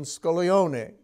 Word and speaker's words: Scaglione: It's kind of like the G in Scaglione.